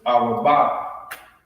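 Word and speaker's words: ארבעה: In the Hebrew, it's Arabah. Arabah.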